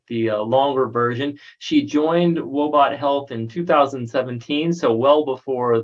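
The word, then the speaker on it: Woebot Health: She is a clinical psychologist and the Chief Clinical Officer of, let me see if I pronounce this right, Wobot Health.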